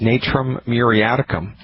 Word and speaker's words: Natrum muriaticum: and the name of that homeopathic medicine is Natura muriaticum you spell that n like the NCAA like Thomas are